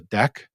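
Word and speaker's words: deque: there is another one called a deck which is spelled d-e-q-u-e and also something called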